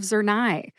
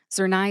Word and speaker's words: Zurnai: Zernia is the brand name and that has two syllables. Zur, which rhymes with sir, as in Sir Lancelot from the King Arthur legend.